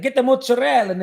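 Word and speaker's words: mozzarella: but an Italian and we don't call it mozarella it's Mozel get the mozzarel and it's not pruto it's p give me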